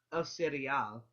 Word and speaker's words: el cereal: El cereal. That's how you pronounce it. El cereal. Okay. Now a lot of people will say cereal, because they're not pronouncing every single letter, but pronounce every single letter.